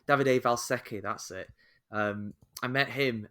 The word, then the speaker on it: Davide Valsecchi: Davide Valsecchi.